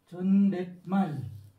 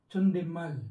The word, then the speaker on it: 존댓말: Ang pangalawa po ay Chondetmal. Pag tayo po yung nag-pronounce niyan. Pero kapag sila po, Chondemal.